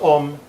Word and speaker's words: AUM: Mantra together Let's chant "AUM" It's divided into three vowels: Aaah, Oooh, and Aum A is pronounced as